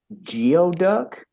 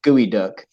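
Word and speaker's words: geoduck: time i saw this sign i was like geo duck and then they're like no it's pronounced gooey duck yeah weird yeah that that's the exact type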